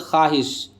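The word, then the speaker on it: خواہش: उसी प्रकार से वह वाव जो लिखा जाए लेकिन पढ़ा ना जाए उसको वाव मादुला कहते हैं, जैसे ख्वाहिश। तो यहाँ जो है वाव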